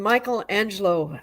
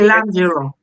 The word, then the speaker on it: Michelangelo: And there are times when Michelangelo, and I did not say his name correctly. Uh, would you say it? Michelangelo.